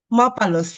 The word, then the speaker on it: Mapalus: Mapalos. Is that pronounced correctly? Mapalos? Mapalus, yes.